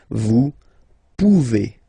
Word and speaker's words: pouvez: Classic ending as well for the vous form. A Z like that, okay? Remember you pronounce it E, okay? Vous pouvez, vous pouvez.